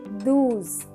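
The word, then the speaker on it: douze: D-O-U-Z-E, do's.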